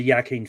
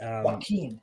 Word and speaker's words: Joaquin: I believe The Immigrant is a Joaquin Phoenix movie. Joaquin.